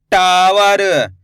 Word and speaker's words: टावर: कैसे, टा में आ की मात्रा टा, व र, तो मिलके बन जाएगा टावर। आए समझ में। ऐसे ही पढ़ेंगे टावर, यानी कि टा पे जोर लगाएंगे।